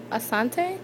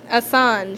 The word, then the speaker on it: Assange: And is it Asante? Is that how you pronounce his name? Being in Assange, Assange, Julian Assange.